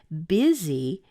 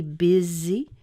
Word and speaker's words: busy: is e so it's pretty crazy easy easy busy it's spelled B us Y but it's actually pronounced as big Z is Z is e busy is the see so it's practically the same